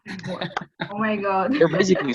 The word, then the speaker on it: قهوة: قهوة. قهوة. قهوة. قهوة. not خ. It's ها. قهوة. قهوة. قهوة. نادي القهوة. نادي القهوة. Okay. Right. قهوة.